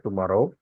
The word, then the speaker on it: TMRW: menunjarkan aplikasi namanya tomorrow ini bacanya tmrw ya bacanya tomorrow orang Indonesia suka menyingkat-ingkat